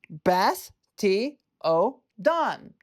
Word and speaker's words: Bastiodon: Bas- ti-o-don. Bas-ti-o-don. Bastiodon. This Pokémon is from roughly 100 million years ago. It's terrifyingly tough face is harder than steel. Wow. Say it with me now. Bas-ti-o-don.